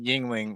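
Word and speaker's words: Yuengling: So it says pronounced Yingling, which is crazy.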